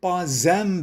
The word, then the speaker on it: pas un: أنا عم ألفظ عم أقول non ce n'est pas un banc. ربطت الاس بالأو لأن الاس بآخر كلمة با لا تلفظ الاس فيها، لكن لوجود الأو بالكلمة اللي بعدها ان صارت ce n'est pas un banc.